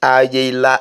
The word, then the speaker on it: Ayela: Ayela, the real pronunciation is Ayela. Aye is another word for word in Benin.